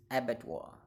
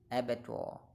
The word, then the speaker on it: abattoir: The word is abattoir. It's a noun, and the pronunciation of this word in British English is abattoir, abattoir, abattoir, abattoir, abattoir.